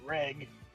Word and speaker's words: Reg: be this robot boy named reg which they pronounce it leg or whatever little Japanese